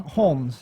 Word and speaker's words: Holmes: holmes without the l holmes holmes with the l yeah okay cool and